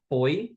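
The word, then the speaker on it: ફોઈ: Your father's sister is it's spelled foy. My family we pronounce it fai, but it's written foy. Many people do say foy, by the way.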